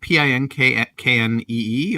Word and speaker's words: Pinckney: Is it Pinknee or is it like Pinckaney? I mean, spell that for me, please. That was the correct one, I believe. The second one? Yep.